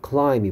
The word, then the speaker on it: climb: 그 다음에 동사 climb이 보이네. climb, climb. 아까 salmon 할때 L이 소리 안 났죠. 마찬가지로 climb 할때 B가 무음입니다. 소리 나지 않습니다. mute입니다. climb, 올라가다라는 동사고요.